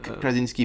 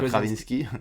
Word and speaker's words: Krasinski: prononce Joh kinsk voilà Kra Krasinski pas kravinski non pas kavinski non oui non non